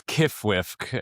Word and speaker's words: QFWFQ: Uh, it's Kwiffk and it's spelled QFWFQ.